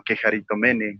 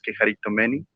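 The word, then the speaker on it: κεχαριτωμένη: Y con respecto a lo de Quejaritomeni, o Quejaritomene, como él lo quiera llamar, pero la pronunciación real es Quejaritomeni, pues vamos a leerles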